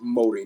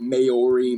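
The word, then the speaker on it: Māori: Yes, by the way, it's pronounced Maori, not Maori, Maori.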